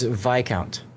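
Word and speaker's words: viscount: The S is silent because the word comes from old French and Latin roots like vice kitm where the S sound dropped out over time.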